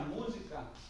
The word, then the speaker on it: música: Música é uma palavra proparoxítona. E tem que ser. Porque é quando a gente pisa que tem que ter a sílaba mais forte.